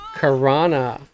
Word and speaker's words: Karana: And then Monday, I might come back to play these guys but I'm moving them to South Karana. I said it right this time. I didn't say South Row.